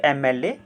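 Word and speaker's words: MLA: Next is when we pronounce M एल ए, इट हैज़ अ vowel sound in the beginning.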